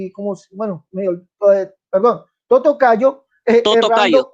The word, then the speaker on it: Totocayo: que usted erra, amigo Tintinago, como, bueno, perdón, Totocayo, Totocayo, errando o no Dani. creyendo. Por favor, no me interrumpa. ¿Sí? Señor, pero está pronunciando mal mi apellido.